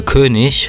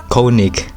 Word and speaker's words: König: and the character is going to be a Kish from uh Call of Duty I am German I'm not Austrian he's Austrian but I'm German and I'm going to tell you he's pronounced Kish not kic I'm sorry I always get uh uh Angry